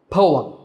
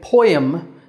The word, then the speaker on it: poem: is parlament po um poem now some people say poem but that's not a standard pronunciation the correct way to say it is poem now poems in general